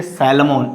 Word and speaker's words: salmon: So here is, don't say salmon, it's a salmon. And sometimes you pronounce almond, and sometimes you pronounce almond.